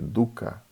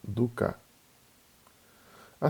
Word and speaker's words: dukkha: do sofrimento que é Duca em sânscrito a gente não tem acento tônico a gente não acentua uma sílaba então não seria Duca seria Duca então primeiro primeira nbre